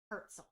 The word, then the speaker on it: Herzl: I think it's pronounced Herzl.